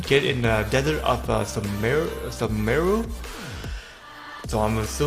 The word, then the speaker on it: Sumeru: So like I already mentioned, we're going to be talking about a 5-star character that coming out in Sumaru today. In Sumeru, I'm trying to pronounce it right.